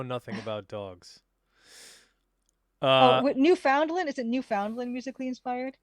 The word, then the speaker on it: Newfoundland: Oh, Uh, Newfoundland. Is it Newfoundland musically inspired? That's how it's supposed to be Newfoundland. pronounced.